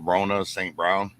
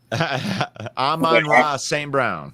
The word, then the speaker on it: Amon-Ra St. Brown: Rona St. Brown? Amon-Ra St. Brown.